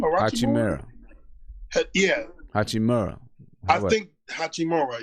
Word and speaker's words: Hachimura: Hachimura. Yeah. Hachimura. I think Hachimura. Yeah, I think those three got the best chance to run Rookie of the Year. In my opinion. Hachimura?